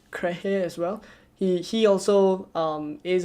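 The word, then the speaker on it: Kehrer: If I'm not wrong, his name is pronounced Krehe as well.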